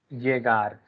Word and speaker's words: llegar: this is llegar. Your Yeager. point sound can be there. Okay, Llegar. sir. Again, this varies. If you go to the other different Spanish speaking country, they will pronounce it as j.